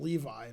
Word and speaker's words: Levy: I think he pronounces it Levi, but okay, he's a weirdo.